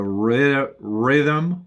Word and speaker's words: rhythm: Like the rhythm of the beat, the rhythm of the music, the rhythm of his walking, the rhythm. The RH, but it's like a soft R going down, and then a TH, rhythm.